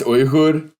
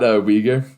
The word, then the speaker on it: Uyghur: called Inner Mongolia, and it's actually pronounced Uyghur, not Uyghur. The proper pronunciation is Uyghur, or you can do Uyghur if you want to keep it a little simpler for your Western mouth.